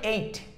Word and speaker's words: ate: বলেন আই এট কিন্তু আমার প্রিয় ভাই এই উচ্চারণটা ঠিক না এটা হচ্ছে আসলে এইট এর রসই এইট যেমন আপনি সিক্স সেভেন এই